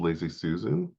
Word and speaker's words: laissezsusan: um well I'm on Instagram as lazy Susan um oh God I have to spell it it's a l a i SS EZ Susan fantastic and for those